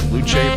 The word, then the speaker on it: Luce: James Watson says, "Isn't it pronounced Luche but spelled Loose?" I thought it was Luch.